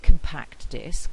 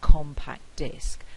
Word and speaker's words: compact: So we don't say compact disc, we say compact disc, and this is known as stress shift.